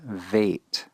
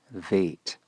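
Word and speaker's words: ב: letter name bait whereas if the dot is omitted it's pronounced with a V sound vate vate now these are the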